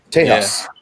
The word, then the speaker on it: Tejas: Tejas. Tejas. Is that actually how you pronounce it? Or That's the Mexican pronunciation.